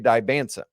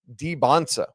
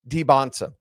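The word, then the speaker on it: Dybantsa: Or actually, you know what? I just listened to him pronounce his name on their roster and it's Debbansa. So, I guess I got to flip how we've been saying that the whole time. AJ Debonsa. There you go.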